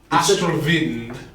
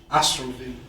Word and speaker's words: Astral Wind: edit that as beans Astro vind there vind with a V it's pronounced with a V Astro vind we have R of